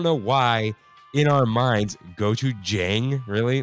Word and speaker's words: gochujang: Michelle writes in, "Hey guys, just want to correct the pronunciation of gochujang. It's pronounced with a soft A, not a hard A.